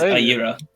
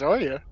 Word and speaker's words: Arya: She's I'm reading it as Ayira. It's Ayra, right? No, she's been saying it as Arya.